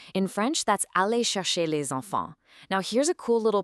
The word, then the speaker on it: les enfants: See how les ends with an S and enfant starts with a vowel? French speakers actually link those together with a Z sound.